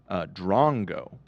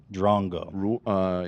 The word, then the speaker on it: drongo: By the way, an Australian fan of ours donated 20 Aussie dollars and said it's pronounced Drongo. Drongo.